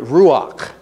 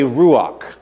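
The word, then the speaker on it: רוח: Holy Spirit listen to me is the word ruach it's spelled r u w a c h say ruach ruach now let me read it to you as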